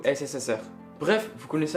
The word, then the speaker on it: CCCP: Donc la prononciation en français ça donne plutôt SSSR.